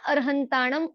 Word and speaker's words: अरहंताणम: इसीलिए हम शुद्ध उच्चारण के रूप में अरहंताणम ऐसा बोला जाता है।